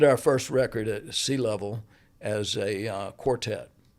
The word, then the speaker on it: Leavell: My family uh this my name is spelled L E A V L and I grew up as a level. Okay. Okay. So, uh and most people that have that name pronounce it level, but there is a faction of people that use lavel.